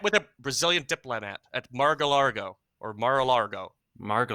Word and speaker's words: Mar-a-Lago: He met with a Brazilian diplomat at Mar-a-Lago or Mar-a-Lago. Hard to Margalargo, pronounce. Margalargo. Mar-a-Lago.